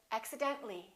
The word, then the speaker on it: accidentally: few more words accident when we add accidentally we don't pronounce the a we say accidentally accidentally one more General when